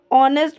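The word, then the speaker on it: honest: मतलब होता है ईमानदार ऑनेस्ट में आपको एच लिखा तो जाएगा पर उसको जब हम स्पीक करेंगे तब आपको उसकी साउंड नहीं आएगी क्योंकि उसमें एच वर्ड जो है वो साइलेंट है 61 वर्ड है आपका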